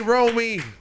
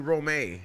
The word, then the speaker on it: Roamy: have an upcoming show the one and only romy thank you for having me back thank you for having me xavier types your name wrong he calls you romay romey i hate that former pisces